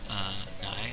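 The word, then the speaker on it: 乃: This beer, this character here is not super common in modern Chinese, but it's pronounced nai.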